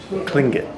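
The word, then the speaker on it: Tlingit: model of the Old Fort how do you pronounce the name of the natives here tingling cling it cling good okay thank you and um that's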